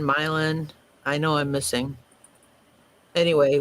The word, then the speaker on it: Milan: I come from a place in Illinois where we have a town named Milan, not Milan, a town named Orion,